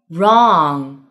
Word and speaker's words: wrong: Number two, WR 开头，W 不发音。Right, wrinkle, wrong.